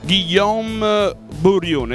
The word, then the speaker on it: Guillaume Borione: del country manager Francia, Guillaume Bourrion. L'ho pronunciata bene, Guillaume? Sì, sì, bene, grazie.